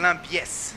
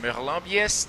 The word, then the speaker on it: Merlin Biais: Merlin Biais executing a roll. Did I pronounce it right, Armin? Merlin Biais. Merlin Biais, that's it.